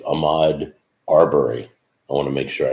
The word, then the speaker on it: Ahmaud Arbery: I don't know if you're living in Iraq, but basically, for those of you who don't know who, it's Ahmaud Arbery. I want to make sure I pronounce his name right.